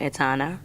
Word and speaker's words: Etana: I said Jano Etana, rhyme with Shauna.